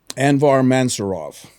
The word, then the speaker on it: Anvar Mansurov: people I've met in a a while um anvar mansurov I pronounce that right yes sir um he asked